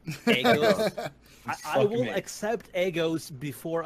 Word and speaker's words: Aegis: No, there's a correct pronunciation. It's fucking Aegis, and it's fucking Idris. I'm saying Agos until Idris. You can just be mad at me. I'm saying Agos from now on. Agos.